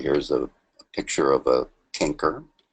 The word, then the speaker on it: chancre: By the way, here's a picture of a chancre. Some people pronounce it chancre in modern times because of the common name canker sore, C-A-N-K-E-R, which has nothing to do with syphilis.